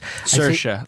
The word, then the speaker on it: Saoirse: but the lead actress, Saoirse, like inertia.